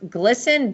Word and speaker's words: GLSEN: agendas into schools um this group I believe is pronounced glsen g-l-s-e-n is that right um